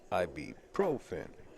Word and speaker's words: ibuprofen: Ibuprofen. Yes, that's how you pronounce it, yes.